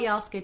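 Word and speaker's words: jag älskar: It's spelled Jalske day, but according to the internet, you don't pronounce the D, Jalske.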